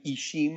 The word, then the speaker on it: Ixim: It also kind of Ishim, I-X-I-M, the X is pronounced as sh, means corn.